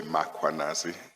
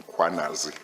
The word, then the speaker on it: Mkhwanazi: think with mkhwanazi uh you tended to say makwa nazi it's some quanazi yes i i feel